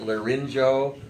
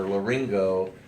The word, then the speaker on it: laryngo: And you can either pronounce it laryngo or laryngo, because people do it both ways.